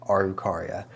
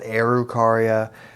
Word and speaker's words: Araucaria: It could also be pronounced Arucaria. The weird spelling makes it a little tricky to find a good pronunciation. Araucaria seems to flow pretty nicely out of my mouth, so that's what I'm going to go ahead and call it. Araucaria is also known as the Norfolk Island Pine.